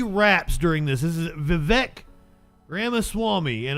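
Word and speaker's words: Vivek: during this this is vivec Grandma Swami and apparently his uh name rhymes with cake Nicole welcome this morning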